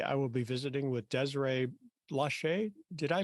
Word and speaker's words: Desiree Blache: the world today I will be visiting with Desiree Lachey did I pronounce that correctly that's correct okay I just